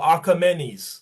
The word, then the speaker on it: Achaemenes: The Achaemenians or the Persians are the children, the Persians who ruled that empire are the children of Achaemenes, or Achaemenes, sorry, it would be pronounced.